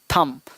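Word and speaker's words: thumb: यहाँ है थंब, तो थंब नहीं थम, थम मतलब अंगूठा, थंब नहीं बोलेंगे।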